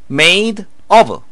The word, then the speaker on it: made of: 여기에서 D가 양쪽 몸 사이에 위치하거든요. 그러면 L로 발음되는 경우도 종종 많이 있습니다. 그래서 made of 이렇게 들리게 되는 경우가 있으니까 조심하시기 바랍니다.